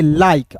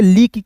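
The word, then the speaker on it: like: दोस्तों यहां पे देखिएगा एल आई के ई है दोस्तों तो इसे क्या पढ़ेंगे लाइक अब देखिए इसे लीक क्यों नहीं पढ़ेंगे बहुत लोग गलती कर देते हैं दोस्तों इसे आपको जो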